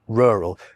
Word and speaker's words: rural: being long, really, and I've treated rural as a 2-syllable word here to give it 5 because it then has the emphasis on the first syllable, rural. But if you do pronounce it as 1 syllable, then it loses a point and becomes 4 out of 10.